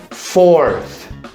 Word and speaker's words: fourth: Assim, first, second, third, e aí a gente vem para o quarto, fourth. Ou seja, basicamente eu vou falar o número 4 no cardinal e acrescentar no final essa pronúncia do TH.